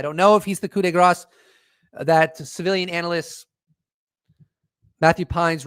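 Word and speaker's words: coup de grâce: epiphany that the coup de grace, or the coup de grace, is actually how you pronounce it, that civilian analyst Matthew Pines was referencing might be James Clapper.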